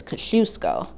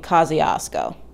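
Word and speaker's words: Kościuszko: rebuilding of the bridge according to former governor cuomo the proper polish pronunciation is kosciuszko but in new york you'll be fine saying kosciuszko my heart goes out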